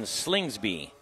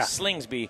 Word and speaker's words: Slingsby: but I want to introduce Slingsby. Am I saying it right? Yes, yeah. Slingsby from Flight Co.